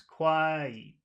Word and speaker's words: quiet: It's one syllable, but that syllable has two vowel sounds in it. What are the two? What are the Mm-hmm. two sounds? Quiet, quiet.